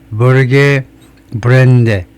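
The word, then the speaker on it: Børge Brende: 노르 사람으로서 영어 발음으로는이 을요 버드처럼 어에 가깝게 발음을 하네요. 그래서 벌게 벌게 브랜드데 벌게 브랜드 정도로 발음을 한다는 겁니다.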